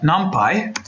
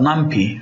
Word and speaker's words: NumPy: stuff we're going to add nump numpy and and sometimes people call it numpy okay so you can choose whichever pronunciation you like and then we're also